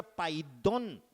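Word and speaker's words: paidion: De 6 a 12 en el mundo espiritual se llama paidón, que se escribe P-A-I-D-I-O-N, pero se pronuncia paidón.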